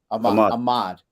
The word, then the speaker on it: Ahmad: deal a deal say your last name I pronounce it wrong Ahmad all right Ahmad I mastered it like 16